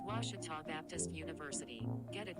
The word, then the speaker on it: Ouachita: ouachita sports digital network i've heard people say oh a cheetah oh wish tall oh a cheetah is it pronounced oh aikida searching for washi at a baptist university back in texas everybody pronounces it wichita but really it's ouachita washington washington how would